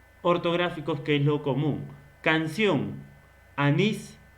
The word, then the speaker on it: canción: Esta de canción, donde lleva la mayor pronunciación en sion.